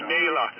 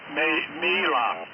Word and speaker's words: Mela: As you can see by the front of my card, my name is Mela, and it's pronounced me as in me, and then la as in la. Mela.